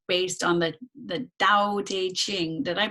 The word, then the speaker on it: Dao De Jing: rooted in philosophy right based on the the Dao de Jing did I pronounce that correctly yes can you can you